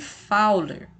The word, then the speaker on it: Fowler: gente disse que ele está em posição de fowler tá bom se escreve fully mas a gente lê fauna tá